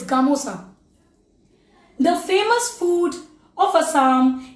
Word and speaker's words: gamosa: Gamosa, that means don't get confused. The pronunciations are gamcha, it's gamosa.